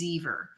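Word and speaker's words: Zver: It is stamped by the maker, which is, I'm going to say that the pronunciation is Zever, which is Z-V-E-R.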